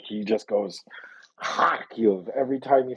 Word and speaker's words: Kharkiv: Like he just goes Kharkiv every time he says Kharkiv. It's like a super hard throaty.